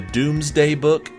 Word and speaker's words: Domesday Book: I believe it's pronounced the Doomsday Book, even though it's spelled the Domesday Book.